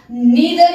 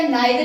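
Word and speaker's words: neither: Okay, इसी तरह से हम नीदर या नाइदर, इसको दोनों प्रोनाउंस कर सकते हैं।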